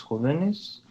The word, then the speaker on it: jóvenes: Now, there's one thing with jóvenes here, and you didn't know this, but when it changes to plural, jóvenes is going to have an accent on the O because it becomes an esdrújula word.